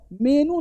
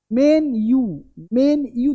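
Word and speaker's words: menu: लोग कि मेनू दिखाओ, मेनू नहीं भाई साहब, मेन यू दिखाओ, मेन्यू, मतलब यू पे लमक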